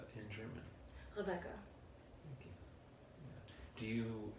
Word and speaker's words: Rebecca: Rebecca. Thank you. Yeah. Do you ever refer to yourself in that way in your day-to-day life? Or introduce yourself in that way? In the German pronunciation?